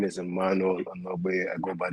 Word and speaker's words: Emmanuel: make this brief but like my name is Emmanuel I'm away I go by the name and